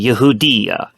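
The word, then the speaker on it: יהודה: but in Hebrew uh the proper term uh for Judea in Hebrew is actually Yehuda um and that is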